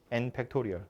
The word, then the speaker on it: 팩토리얼: 잘 쓰질 않고요 느낌표예요 읽을 때 팩토리얼이라고 읽어요 n 팩토리얼 뭔지 알죠 n부터 하나씩 줄어들면서